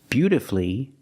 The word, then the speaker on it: beautifully: But with words like these, masterfully, beautifully, and wonderfully, you have 2 syllables before F-U-L-L-Y, but the stress is on the 1st syllable. In this case, the U is silent.